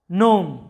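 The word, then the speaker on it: gnome: এরপরে লক্ষ্য করো নোম, যেটার অর্থটা হচ্ছে প্রবাদ বা বচন।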